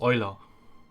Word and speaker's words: Eula: Ich finde den Namen, die englische Aussprache von Jula ein bisschen blöd. Eigentlich ist es Euler. Es ist definitiv Euler. Die Engländer sind halt nur wieder zu blöd, Euler auszusprechen. Aber okay.